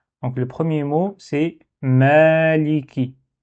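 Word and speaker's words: مَالِكِ: Donc le premier mot c'est maliki. Ici on doit prolonger un petit peu. Donc c'est ça, c'est comme un alif. Donc il faut prolonger, faut pas dire maliki, faut dire maliki.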